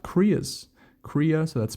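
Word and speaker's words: cria: love this uh this part but they're called koreas Korea so that's spelled c r i a as to why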